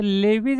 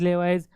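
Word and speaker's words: Lewis: strong लेविज acid तर लेवीज acid म्हणजे काय म्हणलं जातं त्याला वेगळे प्रोनन्सिएशन आहे लेवीज लेवाईज लेवीज ऍसिड काय सांगतं तर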